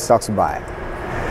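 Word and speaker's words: សុខសប្បាយ: Khmer, Yeah, which hello is Saksubai. What? Saksubai. Saksubai is like, hi, how you doing? Saksubai. It sounds like you're saying, yo, sexy guy. Saksubai to you guys. Saksubai. And Saksubai to you, Martinz. Saksubai te.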